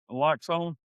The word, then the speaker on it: naloxone: Yep, naloxone.